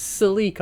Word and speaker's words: Celica: ourselves the Twitter silica I just managed to try and pronounce in both ways something's wrong with me it's silica I like say Sol eco sounds cool now regard the ugly